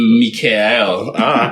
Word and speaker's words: Mikael: It's actually Mikael, not Michael or Mike.